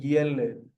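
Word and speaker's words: ילד: And we have the daled with no vowel at the end of the word, meaning yeled, yeled.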